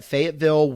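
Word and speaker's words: Fayetteville: Uh, we will be at Fagatville Wesleian Church. Say it with me, everybody. Fateville Wesleian Church. That was pretty good, actually. Yeah, that's how they say it here.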